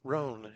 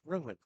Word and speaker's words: Rowan: Instead of Roan, it's Rowan.